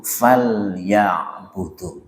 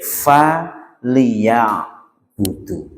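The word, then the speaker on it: فَلْيَعْبُدُوا: Ini kalau misalnya diurai fa terus liya'budu faus liya'budu kalau diurai. Tapi ketika bacanya harus disambung falya'budu.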